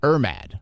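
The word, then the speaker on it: IRMAA: and it looks like irmad is that the way you say it irma irma um yeah because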